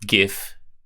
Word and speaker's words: GIF: Yes, it's pronounced GIF with a G.